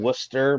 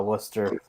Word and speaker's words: Worcester: Is look at Kelly Square in Worcester, Massachusetts. So Can you it's spell that?